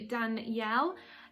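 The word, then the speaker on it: Danyel: so fact number one my name is actually dan yell now it's not spelt the way that everyone else spells the name danielle my name is spelt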